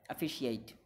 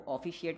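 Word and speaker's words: officiate: तो इसके लिए हम इस्तेमाल करते हैं अफिशिएट, इस वर्ड को हम प्रोनाउंस करते हैं अफिशिएट, इस वर्ड को ऑफिशिएट नहीं प्रोनाउंस करना, अफिस अफ अफ of pronounce करना, ठीक है, अफिशिएट अफिशिएट।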